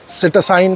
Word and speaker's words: Psittacine: जो मैंने स्क्रीन पे लिखा है इसे सिटोसाइन कहा जाता है। और ये बीमारी आप माने या ना माने बर्ड की जान लेके जाती ही जाती है। सिटोसाइन एक लैटिन वर्ड है